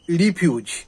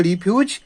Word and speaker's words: refuse: আর ই এফ ইউ এসি রিফিউজ। যখন এই শব্দটা ভার্ব বা ক্রিয়াপদ হিসেবে ব্যবহার করা হবে তখন তার উচ্চারণ হবে রিফিউজ এবং এর বাংলা অর্থ হবে বাতিল করা বা প্রত্যাখ্যান করা।